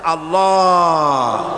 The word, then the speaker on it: আল্লাহ: আল্লাহ পাকের উচ্চারণটা হচ্ছে আল্লাহ পাকের নামের উচ্চারণ হচ্ছে আল্লাহ মুখটা একটু গোল হয়ে যাবে বলেন আল্লাহ আল্লাহ সুবহানাল্লাহ